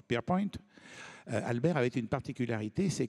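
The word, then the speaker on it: Pierrepoint: s'appelle Albert Albert pierrep ça s'écrit mais on prenonce pierp Albert avait une particularité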